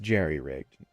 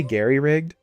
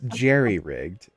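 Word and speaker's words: jerry-rigged: the word it's it's Gary rigged H that's pronounced Jerry rigged did you say Gary rigged that's what she wrote oh you're right uh it's Jerry rigged rules of acquisition not g rigged um by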